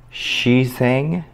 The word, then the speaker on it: Xiaoxiang: pronouncing it properly so i think it's she sang i believe is the uh the